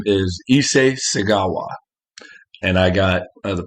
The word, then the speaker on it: Issei Sagawa: he's definitely twisted this man his name is issei segawa and i got the pronunciation was actually not too bad i think